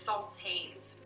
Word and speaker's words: sultanas: The saltines, and I'm probably saying this wrong, sultans, it's spelled S-U-L-T-A-N-A-S, so not teens. It's not like the cracker, it's sultanes.